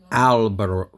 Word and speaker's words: albero: Okay, And when you say the letter A, open the mouth. You have to say it like A. ow. Okay, kind of A. like I Yeah. talked about the German A.